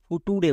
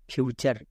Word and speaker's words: future: অনেকে একে ফুটুরে বলে, কিন্তু এটা ফুটুরে না, ফিউচার।